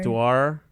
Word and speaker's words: boudoir: Boudoir. You had You all sound the right French. letters. Yeah. Boudoir. Am I saying it right? Well, I think you pronounce it like the French do.